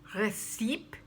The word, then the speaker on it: recipe: Not recipe, but recipe. And then there's receipt, what you get in a store when you purchase something.